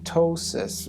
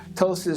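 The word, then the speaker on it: ptosis: That's what we call tossis. We use the wordtosis in the medical profession. Tossis spelled with a P. The P is silent.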